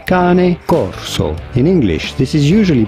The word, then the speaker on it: Cane Corso: go about pronouncing it in Italian this would be said as Kane Corso in English this is usually pronounced as Kane Corso